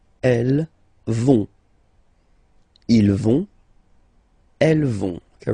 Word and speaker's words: vont: Elles vont. Okay, remember, final T not pronounced, so you get this ON nasal here. On, vont.